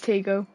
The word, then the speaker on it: Tygo: Is that Tygo or Tego? Or I think it is Tego. Is how we pronounce it.